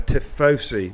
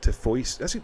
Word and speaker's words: Tifosi: That's how you say it, Gaza. Tifosi, not Tifoisi.